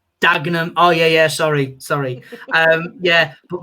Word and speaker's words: Dagenham: Like, I got told you don't say the third syllable, like the second syllable in Dagenham is Dagenham. Dagenham.